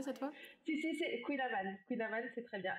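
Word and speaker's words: Kouign-amann: Je l'ai bien prononcé cette fois? Si, c'est Queen Amman.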